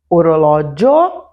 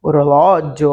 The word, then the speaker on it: orologio: Por exemplo, orologio, orologi. Repara que diferente do zio, o io, né, é a sílaba mais forte, e no orologio, o lo é a sílaba mais forte ao invés do dio.